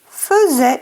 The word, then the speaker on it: faisait: Faisait s'écrit faisait, mais se dit faisait.